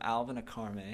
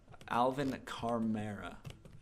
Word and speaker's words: Alvin Kamara: And then for flex, we have Alvin Akamara. Is that how you say his name? I think so. I want to make sure I pronounce this correctly because then I'll look like an idiot. Alvin Kamara.